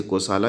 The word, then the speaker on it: Kosala: दो राजा हैं, एक कौशल देश के राजा हैं, इंग्लिश में KOSALA है, आप उसे कोसाला भी प्रोनाउंस कर सकते हैं, बोल सकते हैं। हिंदी में कौशल हम बोलेंगे इसे, कौशल कोसाला दोनों एक ही है, आप लोग कन्फ्यूज़ ना होइएगा।